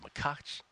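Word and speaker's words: Macháč: 118 Alexi poin at plus 131 against Tomas makach it's actually pronounced makach uh and then Alejandro davidovich faka minus 125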